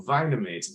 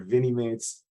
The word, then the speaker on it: Vinimates: I always want to call them Vinamates because they're vinyl figures, but I always say it wrong. They're Vinimates.